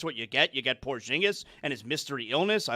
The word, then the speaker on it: Porzingis: And that's why Kaminga was sent to Atlanta for a Porzingis with I I I mean Porzingis.